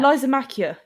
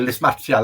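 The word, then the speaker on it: Lysimachia: Lysomachia. Yes. Yeah. I know that. No, I call it Lismachia. Lysomachia. That's the one. Latin for you. See, everyone pronounces it different.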